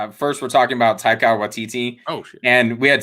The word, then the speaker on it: Waititi: No, this is how you pronounce his name. Yeah, breaking it down. Waititi.